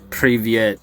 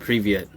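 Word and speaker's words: Привет: Privyet. That's right. That's how you say it. Privyet.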